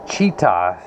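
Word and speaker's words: Chita: the way over to cheetah spelled like cheetah but with an aah it is 200 miles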